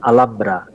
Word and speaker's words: Alhambra: satu di Spanyol namanya Alhambra ya mereka menyebutnya Alhambra tulisannya Alhambra ya Alhambra bacanya Alhambra berasal dari bahasa Arab Al Hamra ya karena itu serba